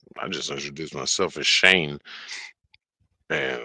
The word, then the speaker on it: Shaynje: I'm like, yeah, the J is silent.